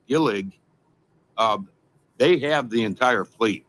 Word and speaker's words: Gillig: Well, the interesting thing is this bus, I believe it's pronounced Gillig, they have the entire fleet for Toledo.